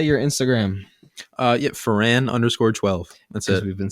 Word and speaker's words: Foran: Yeah, Foran_12.